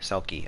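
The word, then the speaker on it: Selkis: in hieroglyphs like srqt selkie is her coptic name like s-e-l-k-i selkie and there's celcus in greek um so that r was probably always pronounced as an l or at least it was pronounced as an l in whatever dialect came down you know through the years to become the coptic name and the greek name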